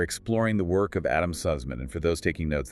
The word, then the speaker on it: Suzman: We are exploring the work of Adam Sussman, and for those taking notes, that's spelled S-U-Z-M-A-N, but it's pronounced Sussman.